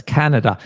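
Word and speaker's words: Kanada: and then another a bit tricky one to pronounce it is Canada Canada yeah that's Canada and the pronunciation of the letter a or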